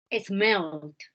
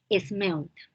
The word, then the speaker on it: smelled: Smelled. Yes, with D. Todos los verbos que terminen en L o doble L, la ED se pronuncia como una D. Smelled.